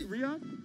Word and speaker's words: Riyadh: Riyadh? Yeah. Okay, I like that. I know it because of let's review, because these are coming boxing from and everything. Ready. Investing, burrito, misconception, King Kong, Riyadh.